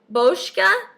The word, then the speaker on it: Boscia: only because of the scent this is the boshka that's how you say it makeup breakup cool